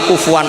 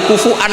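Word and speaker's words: كفوا: Maka sebagian qiraah rata-rata qurra sab'ah itu bacanya walam yakullahu kufuan masih pakai hamzah karena ini maknanya mukafaah, kafaah. Yang baca kufuan diganti wawu, hamzah diganti wawu itu minoritas, termasuk qiraah kita Imam Asim.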